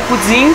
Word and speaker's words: poutine: A tradução do poutine é, em francês, se pronuncia pudim, que é uma bagunça.